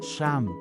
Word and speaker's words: siyam: SIYAM is 9 in Bicol. Change I to the American letter, E, and A to AH, then pronounce it as Sham.